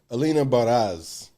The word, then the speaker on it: Alina Baraz: you pronounce her name alina baraz okay people be saying bar is barza that's what i said that is not that barzan that is